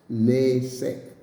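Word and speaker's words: נסך: And the part of speech is in known masculine, and transliteration of the word is nesek, like you said, nesek, N-E-C-E-K, but it's pronounced nesek, and it's talking about a drink offering.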